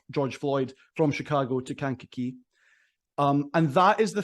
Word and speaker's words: Kankakee: I need to ask is how do you pronounce Kankakee am I getting that right uh you are not completely wrong it's Kankakee right okay yeah Kankakee Illinois is where you're